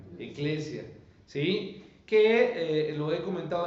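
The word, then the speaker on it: ἐκκλησία: hemos dicho Cómo se dice iglesia en griego eglesia eglesia sí que lo he comentado en otros momentos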